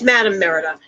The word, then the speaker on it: Madam Merida: If you put it down, they'll see how it's spelled. But it's Madam Merida.